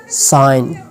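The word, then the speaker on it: sign: मिसाल के तौर पर अलाइन, साइन, कैंपेन। अच्छा, no, when ji comes after vowel and before H then it will साइलेंट।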